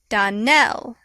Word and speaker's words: Donnell: would set it right danelle accent on the last syllable and saint clair on